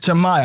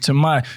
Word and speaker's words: Tamiya: Tamiya, my part.